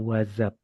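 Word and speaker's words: what's up: teman-teman bisa pakainya adalah wazab ingat di sini tulisannya s tapi bacanya z wazab wazab coba bareng-bareng wazab wazab wazzab wazab wazab wazab waz Wazab.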